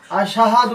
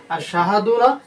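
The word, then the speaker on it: أشهد: আমার জানতে পারলাম এটা আমরা বলতে হবে আশহাদু আল্লা ইলাহা আশাহাদুনা আশহাদুনা আবার আশাহাদু এভাবে বলার চেষ্টা করব না আমরা যেটা শুদ্ধ হয়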